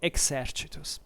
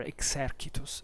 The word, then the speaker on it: exercitus: used by the army, by the exercitus, or better, exercitus, if you want to use the classical pronunciation, as we think at least the classical pronunciation was.